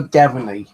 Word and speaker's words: Graveney: It's called the River Gaveney. That's spelled Graveney.